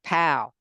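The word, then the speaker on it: dePaola: Like pow. Tommy like to M y. And uh pa right here.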